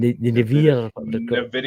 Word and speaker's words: NVIDIA: It's not pronounced Nevada, but I know what you're talking. NVIDIA or something like that.